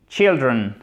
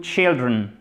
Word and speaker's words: children: Alors là, il faut faire attention parce que non seulement le mot il change, mais la prononciation évidemment aussi. One child, two children. Exactly. One child, two children. Donc là, faites bien attention, c'est un I court, chers amis, OK?